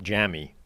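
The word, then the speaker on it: Jammie: Quite clearly spelt Jamie, but apparently pronounced Jamie.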